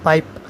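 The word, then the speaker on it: PIPE: उसमें वो आई है पाइप मोस्टली लोग इसको पाइप कहते हैं इसको पाइप या प्रोनाउंस कर सकते हैं लेकिन अब पाइप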